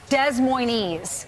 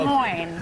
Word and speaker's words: Des Moines: Lawrence, this morning when we came in, I had to tell Brian it's not pronounced Des Moines. Right, no. Des Moines.